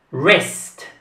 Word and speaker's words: wrist: questa si pronuncia jurist west west da w non viene pronunciata resc in questa parola